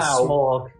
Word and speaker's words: Smaug: His name's Smaug because Smaug sounds more like a dragon. It sounds like smoke.